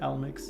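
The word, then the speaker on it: Alimbic: Is it Almix or Alemix? I've been saying Almix for the longest time, but replaying this recently, I've been thinking I've been saying it wrong, and it's actually the Alemix. Yeah, Alemix, maybe.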